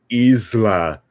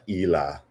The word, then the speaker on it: isla: bonita it's so it's now i'm not a hundred percent sure but i'm pretty sure it's supposed to be la ila right like isla is that like something they